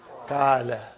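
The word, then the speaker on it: قال: In between there is an alif, and there is no vowel sign. How will you pronounce this? Kala.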